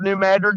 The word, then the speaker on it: New Madrid: you folks New Madrid I call it New Madrid everybody around here calls it New Madrid but you pronounce it